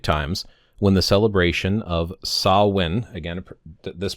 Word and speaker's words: Samhain: back to Celtic times when the celebration of sah-win, again, this pronunciation, marked the end of harvest and beginning of winter on November 1st.